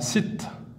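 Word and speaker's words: ست: Le chiffre suivant, le chiffre 6, qu'on va prononcer en arabe sit.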